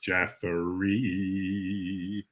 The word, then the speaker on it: Jeffery: welcome to the charos jeffrey rhymes with referee just thought that um